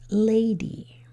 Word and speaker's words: lady: Well, the Y will make an E sound, so what's that word? Tap it, say it. That word is lady. So the Y is going to make an E sound at the end of a two-syllable word.